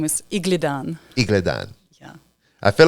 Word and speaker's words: Iglidan: last name again my my last name is Igan IG yeah I feel like I say it